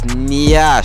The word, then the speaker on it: nyash: Why does everyone say Nash? It's Nyash. Say it like that though.